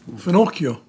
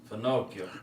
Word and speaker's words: finocchio: Finochio. Finocchio.